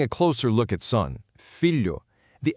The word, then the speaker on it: filho: Together, they make a soft palatal sound, somewhat similar to the lu in the English word million.